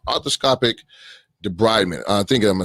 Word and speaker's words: debridement: to come out so uh uh arthroscopic it's pronounced destructive debridement and debris meaning like debris trash so to